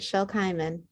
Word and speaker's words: Shel Kimen: Is it, and I'm pronouncing it correctly? You got it, Shel Kimen.